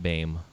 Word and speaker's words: Boehm: And her last name is spelled Boehm, and it's pronounced Boehm.